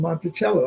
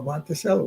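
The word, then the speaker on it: Monticello: a a master plantation called Montichello or Monteello, whichever you want to pronounce it.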